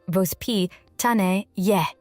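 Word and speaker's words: воспитание: In Russia, there's a parenting philosophy called vaspony, pronounced vosp tan y.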